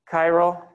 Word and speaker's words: chiral: So chiral is spelled like that. It's another one of those funny words that starts with a CH that sounds like just K. So those four carbons are all chiral, and that means that